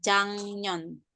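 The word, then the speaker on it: 작년: Cinan he atau di sini ditulisnya jak nyon dibacanya jangyon jangyon.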